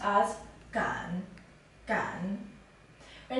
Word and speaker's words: 敢: This character is pronounced as Gan.